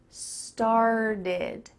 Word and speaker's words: started: The word start ends in a t, but this t is changing to a d. This is super typical in American English, that T's change to D sounds. So I want you to say this with me. This started. It kind of sounds like star plus did.